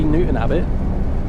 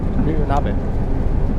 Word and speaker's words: Newton Abbot: The way I say Newton Abbott, it's not Abbott, it's Abbott. Cuz it sounds like I'm saying habit, but I'm not pronouncing the H. Newton Abbott.